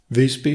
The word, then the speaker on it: Visby: Visby has the same pronunciation of VIS as in, for example, Isa, but by is not at all like the English by. The closest I could come up with was how you start when saying Byzantine Empire, but with a longer Y.